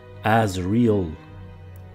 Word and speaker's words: Azriel: Dans le prénom même du protagoniste principal, Azriel, prononcé à l'anglaise Azriel, comme vrai.